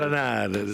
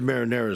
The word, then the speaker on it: marinara: Marinade. A lot of them say it that way, which is not. It is marinara sauce if you want the proper pronunciation.